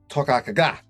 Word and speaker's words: Toiteach A Dha: This time we're reviewing the Bunnahabhain Toiteach A Dha. That's the way it's pronounced, I'm told.